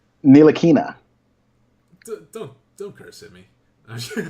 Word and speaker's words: Ntilikina: Ntilikina.